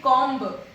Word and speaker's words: comb: First one is comb and not comb. You cannot say it comb. It is comb.